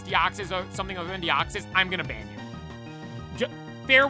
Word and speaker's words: Deoxys: I say Deoxys, right? If you guys pronounce Deoxys anything other than Deoxys, I'm gonna ban you.